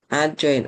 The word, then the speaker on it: adjoint: bahas di sini ya adjoin adj itu adjin bacanya adjoin gitu ya adjoin dari matriks